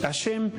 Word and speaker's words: Hashem: le llama a Dios hashem no con j con h muda A hashem o hashem pero que no se escuche como J porque entonces ya sería